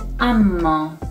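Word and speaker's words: اما: The next and the last example is amma. Amma means but. It's pronounced like amma.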